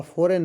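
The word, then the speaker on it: foreign: silent है एल है ठीक है आमंड आपका फॉरेन है इसमें जी साइलेंट है आपका आइलैंड है इसमें एस साइलेंट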